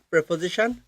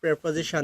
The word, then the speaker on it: preposition: স আপনারা হয়তো অনেকেই ভাবছেন আমি কেন বারবার প্রেপজিশন বলছি। হ্যাঁ আমরা এই ইংলিশটা ভুল বলে থাকি। কারণ আমরা বলি প্রিপজিশন। সঠিকভাবে যদি আপনি বলেন এর উচ্চারণটা হবে প্রেপজিশন। পি আরই প্রে এবং পজিশন।